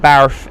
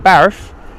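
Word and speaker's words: Bath: Telly NZ saying Barf is a wonderful place. Telly, you've got it, mate. You've got that pronunciation of the West Country way of saying Barf down to an absolute T, my friend.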